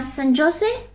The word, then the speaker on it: San Jose: in the US ah San Jose pronounced as J is pronounced as H in us oh okay